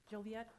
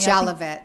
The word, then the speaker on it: Jolivet: Ms. Tabitha Joliet? I'm sorry, I mispronounced it again, ma'am. Would you pronounce it correctly for me? I'm sorry. Would you pronounce your last name correctly for me? Jolivet. Jolivet, thank you.